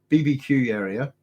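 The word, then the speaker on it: Babakiueria: Look up Babacuaria, pronounced BBQ area.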